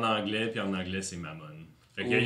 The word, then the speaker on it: Mammon: D&D c'est en anglais, puis en anglais c'est Mammon. Fait qu'il y a Ou pas de Mammon. Mammon. Ok, il y a pas de... Mammon. Ou Mammon. Mammon. L'accent est sur le O, sur Ok. la dernière syllabe.